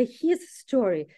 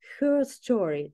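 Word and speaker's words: herstory: так написанное слово история, чтобы не говорить, как будто его история, как будто his story, а произносится это her story, то есть как будто история, но от лица ее. Вот такой тоже вот момент, то есть при произношении мы говорим, да, her story, не history.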